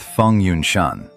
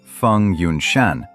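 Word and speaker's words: Feng Yunshan: Together with Fong Yun Shan, pronounced Fun Yun Shan, his closest friend and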